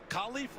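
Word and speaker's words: KaLif: hey by the way it's not pronounced Khalif it's Khali new contracts give you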